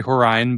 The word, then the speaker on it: Horine: I want to make sure I got the pronunciation of your last name correct. That's okay. It's uh it's actually Horine, but I've uh gotten it several different ways, so um that that's just fine.